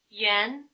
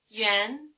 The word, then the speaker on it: yuan: For many speakers, however, this pair doesn't rhyme. The pronunciation is well represented by the actual spelling Y, U umlaut, A, N.